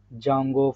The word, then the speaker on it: Django: We need to be learn about the Python language, and later that so Django framework, D Django framework, where D is silent. That's why people are calling Django framework.